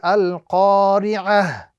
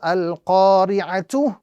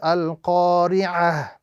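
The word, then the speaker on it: الْقَارِعَةُ: The rule, quite simply, is to change the ta into ha and apply a sukoon. So when stopping on this word, the pronunciation would be al-qari'ah as opposed to al-qari'atu.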